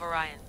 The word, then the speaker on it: Orion: The next stop is the Tomb of Orion. I'll show you how to get there when I get back. Damn it. Altair.